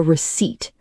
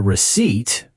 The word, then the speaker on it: receipt: Be careful, the P is silent.